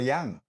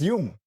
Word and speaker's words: Jung: And all these guys, like this bloody Carl Jung, these Americans can't even say Carl Jung, they'll say Carl Jung. Bloody hell, learn to say his name, man. He's a Swiss guy. No Jung there, it's Jung.